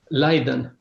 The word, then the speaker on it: Leiden: Leiden.